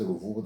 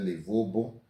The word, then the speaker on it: Ruvubu: As much as they could not pronounce Ruvubu, they said Livubu, Zanani, Zanini, and a whole range of other incorrect spellings or corrupt pronunciations of the names.